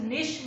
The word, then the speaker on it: niche: मेरे हिसाब से आपको ये वर्ड प्रोनाउंस भी नहीं करना आ रहा होगा। इट इज कॉल्ड एज निश मार्केटिंग।